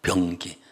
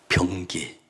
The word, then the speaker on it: 병기: 되게 하셨습니다 발음을 전 변기 변기가 아니고 병 병기 특별한 무기 그 무기가